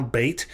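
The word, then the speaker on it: בית: we're looking at now, bait. Without the Dagesh, it's pronounced like a V sound. With the Dagesh, it's pronounced like a B sound.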